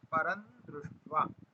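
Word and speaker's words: परं दृष्ट्वा: वर्जम रसोस्य परम द्वा अब परम के बाद अनुस्वार है अनुस्वार के बाद में क्या है द है अब द कहां पर आता है त थ द ध न ठीक है इसलिए हम वो जो परम में जो अनुस्वार है उसको न का उच्चारण करेंगे परम दृष्ट्वा परम दृष्ट्वा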